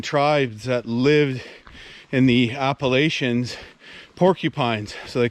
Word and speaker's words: Appalachia: the bark there the appalachia or i think as they pronounce it in the states appalachia i think we use uh the french pronunciation here in canada but these are the